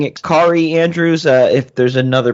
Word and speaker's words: Kaare: and we're pronouncing it kari andrews uh if there's another pronunciation that we don't know about i apologize ahead of time all right the internet told me it rhymes with atari okay one thing we're